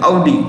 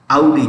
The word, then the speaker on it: Audi: So Porsche, Lamborghini, LAMBORGHINI, Lamborghini, comma Audi, AUDI, Audi. How do you say that? Audi. जैसे हम कहते हैं rowdy, ये है Audi.